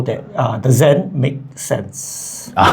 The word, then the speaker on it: Sen: How you pronounce the zen zen zen. Sen zen.